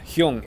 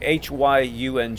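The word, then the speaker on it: 형: is that the Korean word for form is probably young human hy u ng Hyun and that's the way I learned it initially was as human but we under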